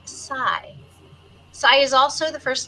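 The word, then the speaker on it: psi: It refers to the 23rd letter of the Greek alphabet and is pronounced sai.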